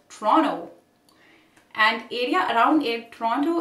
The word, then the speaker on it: Toronto: The second T in Toronto is not pronounced and it is called Toronto.